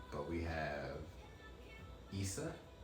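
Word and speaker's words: Isa: So it says the next rune is Issa, pronounced Issa, like Issa Rae, but it's like, well, they don't spell it like that, but it's I-S, right?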